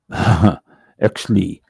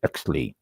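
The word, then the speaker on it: Oechsle: and it is pronounced XLE o e c HS l e XLE it's German that's why it's pronounced with a hard CH this is a scale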